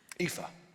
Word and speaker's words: Aoife: Aoife.